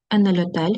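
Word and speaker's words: hotel: У нас є діалог Енельотель. Х не читається.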